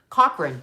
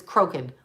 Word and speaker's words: Crokin: I want to keep calling her Cochran, but it's Crokin.